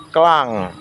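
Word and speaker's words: clung: Bentuk duanya adalah klang, dibaca klang, ditulis celung, C-L-U-N-G, celung. Ditulis celung, dibaca klang, kling, klang.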